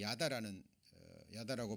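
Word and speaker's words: ידע: 히브리어로 야다라고 발음이 되는데요.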